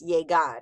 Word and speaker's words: llegar: Notice the sound the G has, llegar. It's an A after it, so it's G. The G has the hard G sound, as in Gary.